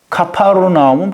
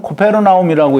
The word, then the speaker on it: 가버나움: 그게 이제 신약에 넘으면서 그 발음대로 소리 나는 대로 읽다가 보니까 가버나움으로 그렇게 카파르나움 또는 코페르나움이라고 읽었는데 그게 이제 우리말로 번역이 되면서 가버나움이 된 거예요.